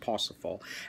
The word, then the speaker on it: Parzival: And he wrote something called Parsifal, or the way it's spelled looks like Parzival, but I believe it's pronounced Parsifal.